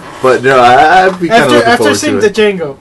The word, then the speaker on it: Django: you know after seeing the django or django the django the d is silent